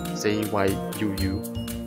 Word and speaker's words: じゅう: 罗马拼音按照前面所说的规则，会变成 zyuu，有两个 u，所以就是把 u 的这个音拉长，就是长音。